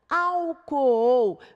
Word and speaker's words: álcool: pronunciadas em sílabas separadas álcool veja nós temos aqui o encontro de duas vogais pronunciados em sílabas separadas coperar nós temos às